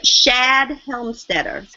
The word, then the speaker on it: Shad Helmstetter: Oh, Shad Helmstetter. Can you spell that for me, please?